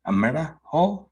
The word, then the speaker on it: Amirah: i believe please welcome america did i say it craig you do yeah i always would like to remind um anybody that stumbles with my name and rhymes with a miracle it's not beautiful that